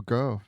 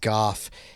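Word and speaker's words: Gough: like alfred alfred is played by uh michael grow it's actually pronounced goth he is a british actor he's been in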